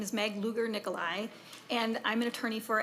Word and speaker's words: Luger Nikolai: My name is Meg Luger Nikolai, and I'm an attorney for Education Minnesota.